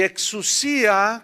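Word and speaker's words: ἐξουσία: La palabra potestades viene del griego exousia, con X, exousia, más bien se pronuncia, exousia. Y exousia, que se traduce potestades, también habla de entes espirituales, pero tienen una pequeñita variación.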